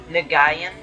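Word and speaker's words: Nguyen: last name is that i said the name nagayan i think i think that's how you pronounce the last name he made he's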